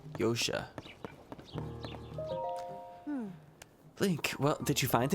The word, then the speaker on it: Josha: challenge foreign yosha ah the J is silent yosha think well did you